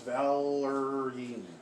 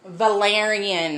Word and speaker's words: valerian: love healing and protection one i can't pronounce valerie valerian that's it valerian love protection purification